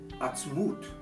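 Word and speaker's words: עַצְמוּת: Usually we pronounce this word in the Torah as atzmot, bones. But notice down here, when we take the little dot over the vav and we put it on its side, it's pronounced atzmut. Goes from atzmot to atzmut.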